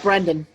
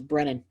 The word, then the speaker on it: Brennan: It's not Brendan. It's not Brandon. It's Brennan. There you go. Or it's not. Well, that's how you spell the Brennan part of not Brennan.